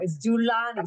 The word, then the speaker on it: Dulani: It's Julani. Say it one more time. Girani. Julani. Julan. I was almost right.